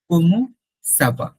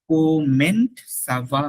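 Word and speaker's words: comment ça va: কোমো সাবা, নট কোমেন্ট সাবা না, কোমো, কোমো, কোমো সাবা, কোমো সাবা, হাউ আর ইউ, কোমো সাবা।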